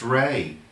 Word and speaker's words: Rhea: free Pearlman from Cheers her name was rhe a wasn't it wasn't it and that's pronounced ray so who said they